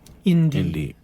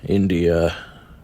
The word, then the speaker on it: Indie: Indie. Like independent, but shorter. Right. Yeah. Indie. INDIE. How do you spell that? INDIE. I'm gonna write that down. Go. Okay. India.